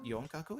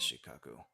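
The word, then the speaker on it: 四角: Not yonkaku? Is it shikaku? Freaking is shikaku. I hate that. I hate that there's 2 different pronunciations.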